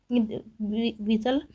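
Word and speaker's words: whistle: रहा है दोस्तों, डब्लू, विसल में दोस्तों डब्लू आ रहा है, आई आ रहा है, यस पढ़ रहे हैं, यल और ई आ रहा है, जबकि क्या क्या साइलेंट हो रहा है, एच और टी साइलेंट हो जा रहे हैं, इसलिए सही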